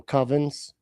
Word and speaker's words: coven: You you like close with some covens. Is that what it is? You you go to the the coven oven bake off. Coven rhymes with oven.